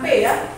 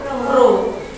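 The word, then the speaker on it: ρ: dilambangkan dengan seperti ini ini bukan peya Bacanya adalah Bro Jadi lo itu adalah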